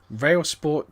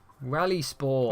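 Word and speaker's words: RalliSport: Rail Sport Challenge. Rally Sport. Oh, Rally Sport. Yeah, sorry, my bad. You're reading it wrong. Rally game, basically. Oh, that's really annoying because it's spelled with... anyway, never mind. Yeah, it's spelled with an I.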